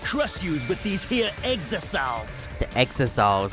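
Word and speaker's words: exisal: And if you even try to interfere, we'll just crush you with these here exosols. The exosols. Okay, so that's how you pronounce it. Exosols. Okay, I was pronouncing them exiles.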